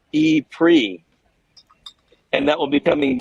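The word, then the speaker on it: E-Prix: there to cover uh Formula E is that the right way to say that e Grand Prix yeah yeah it's the Formula E Monaco e pre and that will be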